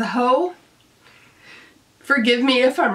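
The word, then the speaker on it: Haux: retrospect next up is spelled ha uux I believe it's pronounced as ho forgive me if I'm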